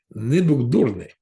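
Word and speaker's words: nebūk durnas: I checked with a Lithuanian person once. They said that this is the right pronunciation. Nebugdorne.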